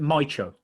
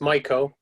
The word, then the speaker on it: Mycho: pronunciation of the company is it mycho no it's michael michael see that's how i